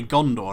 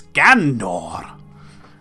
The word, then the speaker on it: Gondor: And like you get a lot of people in later parts say Gondor like it's Gandor.